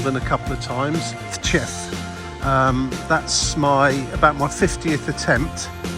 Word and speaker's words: Tczew: I'm in a town that's spelled Tczew, and I'm informed that this is pronounced Tczew.